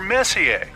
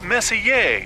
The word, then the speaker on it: Messier: Well, young lady, the M stands for Messier, pronounced Messier, not messier, as in is your room messier than mine?